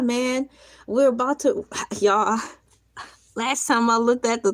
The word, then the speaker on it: Elay: Pronounced like LA. Not LA like the city.